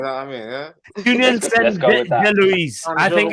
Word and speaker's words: Saint-Gilloise: The French pronunciation in it, where they don't say the S and the E in it.